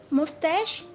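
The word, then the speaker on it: moustache: मुस्टैश, मूंछे। मुस्टैश, ये च नहीं है, ये श की साउंड है।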